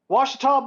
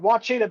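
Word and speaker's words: Ouachita: schools and being like, Washita Baptist, who are they? Oh, and they probably pronounce it wrong. Wachita Baptist, never heard of them.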